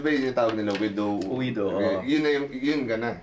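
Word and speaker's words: oído: Well, sa Chabacano, we spell O-I. It O-I. Uwido. Uwido.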